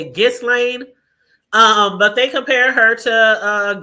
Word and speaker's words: Ghislaine: Giselle, why I keep calling her Giselle? Her name is Ghislaine. I think that's how you say it, Ghislaine.